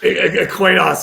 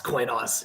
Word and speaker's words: Coinos: you go to by the way, you guys pronounce it Coinos? It's Coinos, right? Is it Coin operating system? Coinos, yeah, we get asked that all the time. It's Coinos, yeah, but say whatever you want.